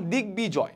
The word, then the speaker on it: দিগ্বিজয়: ওকে, পরবর্তী চলে যাব আমরা সন্ধিজাত শব্দে যুক্ত ব ফলায় বয় উচ্চারণ বজায় থাকে, যেমন দিগ্বিজয়।